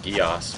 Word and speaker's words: Geass: with long animes, but it's definitely pronounced Geass based on how they say it in the show.